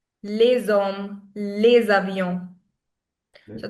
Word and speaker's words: les avions: But when the next word starts with a vowel, we link the sounds.